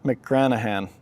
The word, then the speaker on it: McGranaghan: So Laura McGranaghan, wait, let me pronounce this right, silent G. Laura McGranaghan, there we go, I think I got it, Laura McGranaghan.